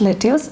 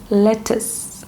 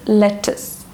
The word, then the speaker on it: lettuce: How do you pronounce this word? Is it lettuce? It's not lettuce, it is lettuce. Okay, it is lettuce.